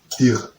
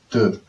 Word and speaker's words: deux: How would someone in English pronounce the D-E-R? Dir. But it is deux.